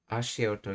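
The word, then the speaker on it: 足音: Ashioto? I wonder if it's actually pronounced like that. Ashioto, yes.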